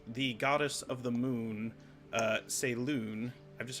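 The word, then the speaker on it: Selûne: goddess of the moon say loon I've just said that's the pronunciation based on the accent markings in her name and the feelings that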